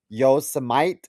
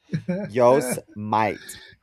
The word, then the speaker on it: Yosemite: prepared to come on this podcast and say Yosemite. Yosemite. Yosemite. Yosemite, like Yosemite Sam, the cartoon. Yeah. I was like, oh, I should have known that. Yosemite.